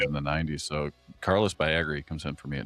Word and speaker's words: Baerga: How do you say Baerga?